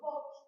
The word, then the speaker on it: Voge: Ang pronounce nito? Bog, bie or bog?